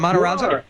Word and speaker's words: Matarazzo: So, Gaten, how many Matarazzos? Am I pronouncing your last name correctly? Is it Matarazzo?